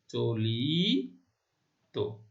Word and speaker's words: চলিত: তাহলে দেখো, চল যোগ ইত, তাহলে কি হলো? চলিত। প্রথম আদ্য অ এর উচ্চারণ ও কেন হয়েছে, ওবোধ কেন হয়েছে, সেটা আমরা জানি যে আদ্য অয়ের পরে ই বা উধ্বনি আছে সেজন্য। আর আমাদের নিয়মের কথা হচ্ছে ত বা ইত প্রত্যয়, হ্যাঁ শব্দটি ইত প্রত্যয় দ্বারা গঠিত শব্দ, সেই জন্য অন্ত অ এর উচ্চারণ কি হয়েছে? ওকার হয়েছে, ওবত হয়েছে।